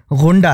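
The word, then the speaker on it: ग़ुंडा: बहुत ही नॉर्मल सा गुंडा यहां भी नुक्ता है ग के नीचे नुक्ता है वो दरअसल गुंडा है तो आप जब भी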